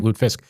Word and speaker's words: lutefisk: That's how they say it, lutefisk.